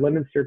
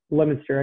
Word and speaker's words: Leominster: So you had Leominster coming in. But, by the way, Quad Cities, Leominster. I know it's pronounced or phonetically. Oh, yeah. Leominster.